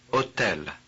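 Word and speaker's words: hôtel: here are more words in which the H has no pronunciation value look listen and imitate hotel hotel is 48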